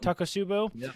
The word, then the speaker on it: takotsubo: real medical condition takotsubo cardiomyopathy is how you pronounce it right Charles is it tuck it up taco subbu there's the next t-shirt yes yes the next